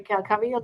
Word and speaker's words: Cavill: And I was just happy that Henry Cavill, that's how you say his name.